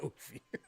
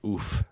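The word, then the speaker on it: Ouphe: It's not I can tell you it's not oofy. I like calling him an oof because it's like oof.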